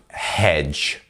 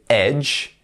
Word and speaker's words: hedge: first up we have hedge hedge make sure to not be saying Edge because it can be very easy to miss out that H sound at the beginning but it actually changes